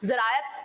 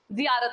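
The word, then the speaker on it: ज़ियारत: टू पे tribute to invoke the gods and is presented at the time of फिलगमेश टू द जरायत shine. ठीक है? जियारत sorry गलत pronounce किया मैंने।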